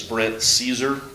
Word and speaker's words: Brent Caesar: to lead this up his name is Brent Caesar is how you pronounce that name if you look at